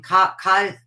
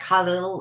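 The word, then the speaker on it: Kahlil: And I went and bought every book by, I mispronounce his name, Cahill Gibran, I call him, but his name is pronounced like Khalil or something.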